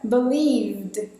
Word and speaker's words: believed: E na hora de pronunciar, esse E precisa sair do jogo. Então você vai fazer o som do V direto conectado com um D. Vd. Sem nenhuma vogal no meio.